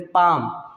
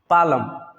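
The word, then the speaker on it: palm: लोग इसको गलत पढ़ते हैं, जिसको बोलते हैं पाम, पालम। पालम मीन्स होता है हथेली, लेकिन बिल्कुल गलत है, इसका सही साउंड होगा पाम। क्यों? क्योंकि एम से पहले एल आया है तो एल साइलेंट होता है।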